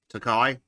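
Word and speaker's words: Takei: George, how do you fucking pronounce the guy from Star Trek? Takai.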